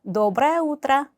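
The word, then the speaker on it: доброе утро: 노브라우더라. 노브라오더라. 마찬가지로 조금 더 딱딱하게 들릴 수 있지만 신경 쓰지 마세요. 그대로 발음을 하시면 됩니다. 노브레 오더라. 자, 강세 외의이 몸은 아로 발음을 하시면 돼요. 그죠? 노브라예 우뜨라.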